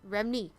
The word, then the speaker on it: Remini: Leah Remini.